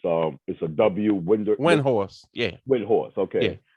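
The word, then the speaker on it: Windhorst: That one I did not get, but like there's this ESPN reporter Brian, I can't pronounce his last name. It's a Windhorse.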